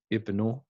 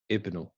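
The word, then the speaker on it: ابن: So we say ismu, ibnu, ibnu. But when they come in the middle of a sentence, then they're not pronounced.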